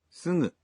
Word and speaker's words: すぐ: It's すぐ a voiced nasal. In Japanese, you pronounce g in the initial syllables of words as a voiced g, like, ガギグゲゴ but for other syllables such as, すぐ you pronounce the g sound as a nasal.